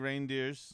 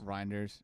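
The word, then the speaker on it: Reijnders: Tjani Reindeers. Rinders.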